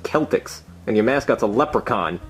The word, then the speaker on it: Celtics: Stupid Boston Celtics. You didn't even say your name right. It's pronounced Celtics.